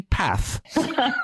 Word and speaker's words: path: Did I hear you say path? Yes, I am. I'm Leicester born and bred. Wow. So where does this path come from then? That is the correct way to say the word, Keith.